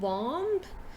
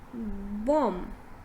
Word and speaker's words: bomb: word is this so here we see b is silent right so instead of saying bomb just say bomb bomb bomb right now moving on